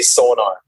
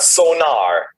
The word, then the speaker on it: Sonor: it out well we we always say son you know like the the German Way um if and I've fallen into that that state if I talking to somebody from America you know in English I I just say sonar sonar yeah yeah but it's not sonar that's that's different I